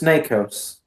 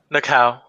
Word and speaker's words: Nakao: He will say, "Miss Nakos, it is now your turn." Or Nako. How do you pronounce the last name? Nako? Nakao. The S is silent.